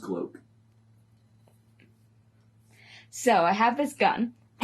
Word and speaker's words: Glock: it's Can pronounced gloke.